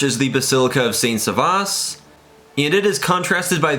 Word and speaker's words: Servatius: atop the grave of Saint Servatius, or Saint Servatius, I'll use the Dutch pronunciation here.